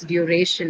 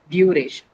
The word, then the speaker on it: duration: technical answer for why we say it's duration and not duration because of the suffix, right? It has a shin suffix that is uh the suffix which would uh move the stress to the syllable uh that is right before the uh syllable carrying the suffix sh. So, penultimate syllable.